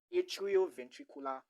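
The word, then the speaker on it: atrioventricular: It's a combination of two words. The atrium the atrium and the ventricle.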